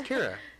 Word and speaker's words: Kira: No, it's not Kyra. It's Kira.